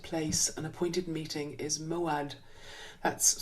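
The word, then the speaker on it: mo'ad: place an appointed place an appointed meeting is moad that's spelled m o apostrophe a d and if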